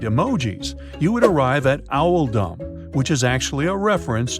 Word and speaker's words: Oldham: This choice was made to reflect the pronunciation of Oldham in the local accent, which is Owldom.